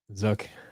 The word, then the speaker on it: Zook: pie magna tomato tomato zuck rhymes with book and cook and zuck yeah wonder why fire